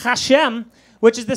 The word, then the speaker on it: Hashem: Dina, her last name is pronounced Hashem, which is the sound her boyfriend makes after eating her hairy pussy.